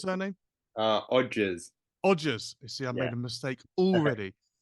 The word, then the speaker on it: Odgers: Odgers, is that how I pronounce the It's surname? Odgers.